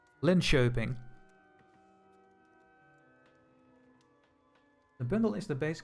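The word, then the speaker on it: Linköping: Pronounced the K as sh. Oh, so this is uh Lyn Shaping.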